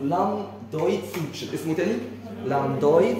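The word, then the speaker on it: lambdoid: تاني بس خلي بالك السبيلنج بتاعها ال اي ام بي دي او اي دي يعني في بي بس البي سايد ما بننطقهاش اسمه لام دويد سوتش اسمه تاني لام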